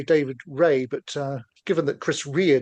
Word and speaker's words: Rea: I would say David Ray, but given that Chris Rea died recently, would you say David Rea or Ray for our guitarist here? According to Wikipedia, he pronounced it Ray. Ray, sure.